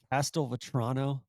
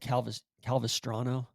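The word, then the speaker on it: Castelvetrano: Listen, I mispronounced uh Castel Vatrono olives and I said I said Calv Calvastano olives which that's just really like that's not a good one.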